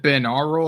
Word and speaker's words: binaural: Is it binaural or binaural? Binaural. Yeah, as in binary.